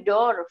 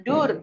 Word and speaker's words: door: Jadi kita membacanya door, floor, bukan dur, floor.